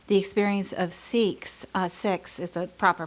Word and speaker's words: Sikhs: And you reminded me of something that some of you may be aware of or not, the experience of Sikhs is the proper pronunciation actually, in the U.S.